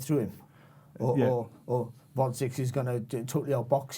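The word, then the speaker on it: Gvozdyk: champion, and the WBC champion, let's get the pronunciation right, Alexander Dvorak.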